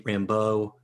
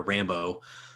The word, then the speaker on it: Rambeau: And it cracks me up how it's a very Cajun, sort of French Cajun name, Rambeau, right? Which is the way I always pronounced it, seeing in the comics, but that guy just keeps calling her Rambo.